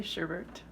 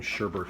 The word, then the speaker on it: sherbet: or sherbet i say sherbet i have also grown up saying sherbert even though there's no extra r at the end of there even though it's spelled sherbet how much milk are